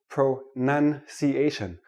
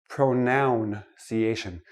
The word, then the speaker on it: pronunciation: let me start with this word pronunciation not pronounciation it is not a pronoun a pronoun is i